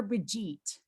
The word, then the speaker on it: Brigitte: Okay, Brigitte, remind me, Brigitte or Brigitte? It's German, so it's Brigitte, but you may call me anything you would like to.